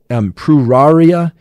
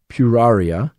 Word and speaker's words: Pueraria: And this one is also particularly difficult to pronounce. And it's Pruraria mirifica. So I'm going to spell this out for you. It's P-U-E-R-A-R-I-A, Pruraria mirifica.